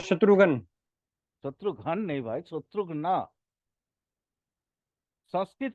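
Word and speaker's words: शत्रुघ्न: बोला जा सकता है क्या बोला जा सकता शत्रुगन शत्रु नहीं होंगे शत्रु शत्रु ना जैसे राम के छोटे भाई नहीं थे शत्रु अ शत्रुघन शत्रुघन नहीं भाई शत्रुघन संस्कृत उच्चारण करो ठीक है सर माने व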